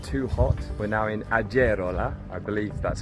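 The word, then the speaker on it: Agerola: pronounce this between us in Spanish the G is like a h sound which of course is not true in Italian but also we were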